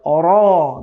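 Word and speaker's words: ر: 10 নম্বর মাখরাজের মধ্যে জিহ্বার আগার পিঠ, অর্থাৎ জিহ্বার আগার যে উল্টো সাইডটা আছে, এই উল্টো সাইডটা বরাবর উপরে তালুর সঙ্গে লাগাতে হবে। তখন উচ্চারণ হবে র র র। এই যে একটা মানে ইয়া সাউন্ড হচ্ছে, রিপিট সাউন্ড হচ্ছে, র র র। কেমন একটা এরকম হালকা সাউন্ড হচ্ছে।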